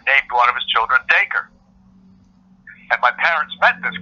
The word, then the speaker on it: Dacre: But it's actually Dacre, like Dacre. An acre of land with a D slammed in front, which it came around in